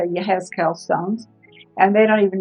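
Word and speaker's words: יחזקאל: I forgot how to say it in Hebrew, and it's Yehezkel.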